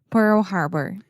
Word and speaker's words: Pearl Harbor: Pearl Pearl Harbor yes that RL combination can be quite difficult for a lot of Brazilians and Portuguese speakers that's why I always just recommend slowing it down really articulating both syllables Pearl Pearl there we go Pearl